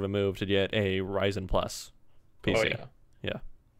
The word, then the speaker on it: Ryzen: And sounds like Ryzen.